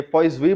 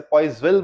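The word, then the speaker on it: Poiseuille: ये पॉइजवी बोला जाएगा, इसे पॉइजविल बोल देते हैं हम।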